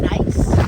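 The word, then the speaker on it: gneiss: Uh, most of it is something called nice, which is spelled G N I E S S.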